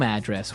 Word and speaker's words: address: So different from your home address where you live. Yeah. And there the stress is on the first syllable. Address.